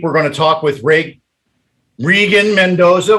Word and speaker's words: Reagan: This week, we're going to talk with Reagan Mendoza. Well, it's a long E there.